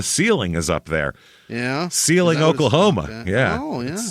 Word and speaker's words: Seiling: Seiling, Oklahoma. Okay. Yeah. Oh, yeah. It's just like the word ceiling except with an S, and they pronounce it Seiling.